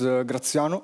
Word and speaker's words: Graziano: My name is Graziano. I know it is not the easiest to pronounce for those who are not Italians, but hey, I didn't choose it, so thanks, Mom.